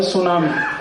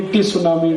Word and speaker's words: tsunami: अंग्रेजी में एक शब्द है सुनामी, कैसे लिखते हैं? TSUNAMI। बोलते क्यों नहीं? टी सुनामी, टी सुनामी, टी सुनामी। कहते जी टी साइलेंट है तो लगाया क्यों? हटा दो उसको।